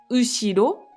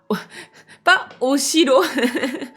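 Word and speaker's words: 後ろ: La particule est qui s'écrit he, mais qui se prononce juste est, c'est la particule de direction. Donc je vais en direction de ushiro. Ushiro, c'est quel endroit? Si je vous dis ushiro, ah pas oshiro.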